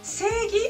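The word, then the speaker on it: 正義: ver qué es seguir seguí aunque si se escribe sé y he la pronunciación es seguir la en el medio sirve para alargar el sonido y desde entonces es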